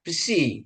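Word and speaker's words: ψι: PSI ya ini psi. PSI PS psi ya. Sepdo ya. Pesepdo psikologi. Psikologi ya bukan psikologi tapi psikologi kayaknya ini harus ada harus kedengaran ya.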